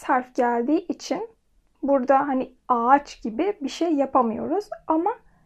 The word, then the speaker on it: ağaç: Mesela ağaç kelimesinde burada iki tane A ve A, yani iki A'nın arasında yumuşak G. Buradaki telaffuz ağaç. Eğer yumuşak G olmasaydı bu ağaç olurdu. Burada yumuşak G'nin olması bunu yumuşak bir şekilde söylememiz gerektiğini belirtiyor. Yani bunu ağaç değil, ağaç olarak söylememiz gerekiyor.